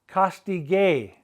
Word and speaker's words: castigué: They're going to have a gay at the end with an accent on the E. We must maintain the hard G sound, the ga sound.